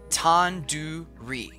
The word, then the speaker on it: tandoori: Tandoori. The do isn't like the door. It's like doo-doo head. Are you 5 years old? You could have just said, like, do in due date. Tandoori.